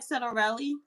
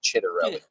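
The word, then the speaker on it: Ciattarelli: How do you pronounce his name? Jack Ciderelli. Chitter. Yeah. Like if you're saying but you say it like Like Chitterelli.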